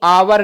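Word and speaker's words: hour: इसको ध्यान से देखिएगा, ये आवर लिखा है, इसमें H साइलेंट होता है।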